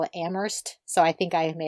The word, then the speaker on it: Amherst: people who go to Amherst actually call it am Hearst so I think I may have pronounced it wrong do you have any insight on this at the Amherst er Amherst you know the thing about Massachusetts